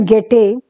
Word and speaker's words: Goethe: एंड गेटे, ये जो स्पेलिंग है देखिए, आप देखिए GOETHE है, ये गेटे पढ़ते हैं, इसको प्रोनाउंस करते हैं, ये जर्मन फिलोसोफर थे गेटे।